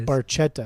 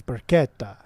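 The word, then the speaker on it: Beretta: yeah yeah it's not Baretta it's Baretta no it's Baretta it's not Baretta Baretta you got to say like an Italian well that is Italian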